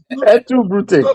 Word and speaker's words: Brute: Hold on now. Brute. That is that is the that's the pronunciation in Latin.